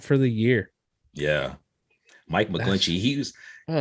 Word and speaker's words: McGlinchey: it's okay we have uh 49ers right tackle mcglinchey is that how you say his name yep taurus quad dunzo out for the year yeah mike mcglinchey he's like man i just can't fathom yeah